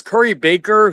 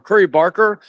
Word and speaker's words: Curry Barker: Yeah, it's it's it's uh it gives me hope because Curry Baker who's or Curry Barker I've been saying his name wrong, I realized.